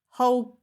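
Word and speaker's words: Holcomb: It's by Ellie I don't know how you say her surname Ellie Holm. H O L C O M B C isn't silent B again.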